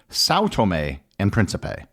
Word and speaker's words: São Tomé and Príncipe: not found in English for the rest of this episode I'm going to use the English pronunciation which basically ignores the die critical marks so it will be Sao Tomei and Principe that being said the